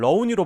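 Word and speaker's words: 肉泥: 다진 고기를 뜻하는 중국어예요 특히 산둥지방에선 이걸 러우니로 발음하는데 이거랑 제일 가깝죠 우리나라 화교들이 산둥지반 출신분들이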